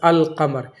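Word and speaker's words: القمر: जैसे अल कमर देख लें यहां अलम पढ़ा गया। अल लाम पढ़ा गया।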